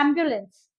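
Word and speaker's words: ambulance: एम्बुलेंस, एम्बुलेंस, बू क्यों लगाते हो? इसको कहते हैं एम्बुलेंस।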